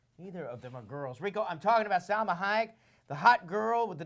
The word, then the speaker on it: Salma Hayek: Maybe if you say my name all weird, but my name is actually pronounced Salma Hayek. Yeah, Salma Hayek, like the actress.